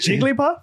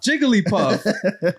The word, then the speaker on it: Jigglypuff: it right no how do you say it Jigglypuff Jigglypuff it's a hillbilly puff Jigglypuff and I was like oh damn well I got that wrong y'all better come for this man come for me Jigglypuff stands rise up yeah right but uh but